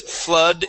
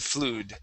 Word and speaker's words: flood: okay much better and the double O in the word flood makes an uh sound so the word is flood instead of flu flood try that flood